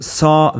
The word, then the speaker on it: sont: In sont, the final t is silent as it is mostly in French, and the vowel is nasal.